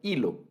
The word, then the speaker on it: hilo: Es decir, está como palabras como hilo, como hijo, como hubo, palabras que se deben escribir con una H, pero que la H, cuando la hablamos esa palabra, la pronunciamos, no suena, hilo.